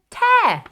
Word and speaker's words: tear: Oh, I found a piece of paper that has a tear in it. Can you hear the air sound at the end of tear?